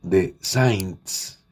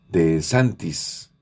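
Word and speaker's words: DeSantis: persona absolutamente radical denominado de Saints o de santis de santis más bien la pronunciación de santis lo cual se suma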